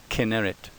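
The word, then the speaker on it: כנרת: Sites north of Magdala include Gennesar, also called Gennesaret, and Chinnereth, pronounced in Hebrew Kinneret.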